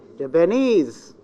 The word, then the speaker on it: Japanese: Japanese. Is. This is the stress. The last syllable.